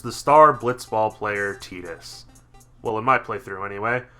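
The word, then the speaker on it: Tidus: still isn't aware, somehow, Tetus is how you say it, not Titus. His name is based on the Okanowan word for son, Teta.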